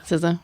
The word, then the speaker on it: SZA: SZA.